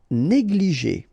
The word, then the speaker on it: négligé: Négligé. Okay, accent aigu here and here. Et négligé.